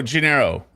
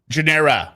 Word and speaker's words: Gennaro: Oh, Gennaro. Like Rio de Janeiro. Okay, Gennaro. Genera.